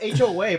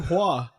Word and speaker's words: Hoa: My name is spelled HOA, but you don't call me Hoa. Yeah, do. we call you Hua.